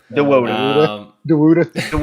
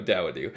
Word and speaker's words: Dawodu: Dawodu. He sounds like me trying to pronounce somebody's name.